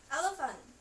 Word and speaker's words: elephant: Selanjutnya number 8, elephant. Elephant itu P dan H-nya dibaca seperti huruf F.